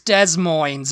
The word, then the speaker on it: Des Moines: It's Des Moines, okay?